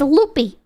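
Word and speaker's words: Lupe: And I was pronouncing this motherfucker loopy for the longest time. It's actually pronounced loop.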